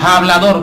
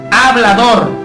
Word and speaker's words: hablador: en exceso, un hablador, no como muchas personas pronuncian hablador, no es ja con J, es hablador con H, que habla demasiado.